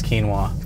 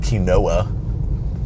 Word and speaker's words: quinoa: they're hipsters season is quinoa my parents pronounced it key Noah that is wrong we'll start by